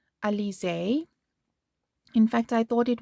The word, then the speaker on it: Alize: found at my local wool shop it's called alize in fact i thought it was elise but i i had to google to listen to the pronunciation so it's alicia this is the puffy fine color and i